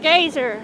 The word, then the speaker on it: geyser: Or is it Gazer? How do you I call it geyser. pronounce it?